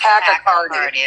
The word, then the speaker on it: tachycardia: test because you have tachycardia, or however it's pronounced, but your heart beats faster. It's tachycardia.